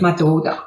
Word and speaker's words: Madoda: Is it Madoda? Madoda, not your daughter, right? No, not my daughter, Madoda. Madoda, Yeah, almost like my daughter, because I've got a lovely daughter here.